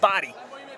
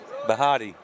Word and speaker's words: Bahati: It's Body. That's how you say it, Body. That ain't Body. That is Body. That's Bahati.